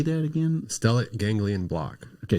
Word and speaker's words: stellate ganglion block: Stellate ganglion block. Okay, say it again. Stellate ganglion block.